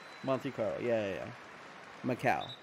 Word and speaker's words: Macau: monte carlo yeah yeah macau but you know yeah spelled it correctly it's kind of like pronounced like my cow was better first off